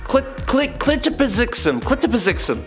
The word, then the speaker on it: Mxyzptlk: Clitopizixum.